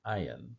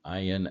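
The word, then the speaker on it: עין: as in modern Arabic, the ayin actually has a sound. It's a guttural NG for most of us Western speakers, difficult to pronounce, but it is like a it's the G in Gomorrah. Think of the city Sodom and Gomorrah. Gomorrah actually starts with an ayin, so that's where the G comes from.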